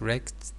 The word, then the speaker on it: wrecked: vandals since young vandals wrecked remember w is not pronounced wrecked their cafeteria means destroyed